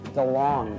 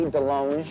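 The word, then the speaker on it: DeLonge: Gary's chicken and ribs I am Tom Del long but it should be Delong cuz I went to France and they said you're pronouncing it wrong I'm all DeLong you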